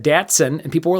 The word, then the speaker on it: Datsun: what six letter name Datsun Dotson which I mispronounced is Datsun and people lost their